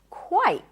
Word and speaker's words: quite: This is quite. That is quite interesting, my friend. Quite. The beginning is the same. W, but instead of I, you have I as in my quite. And then again a T. Quite or quite quit.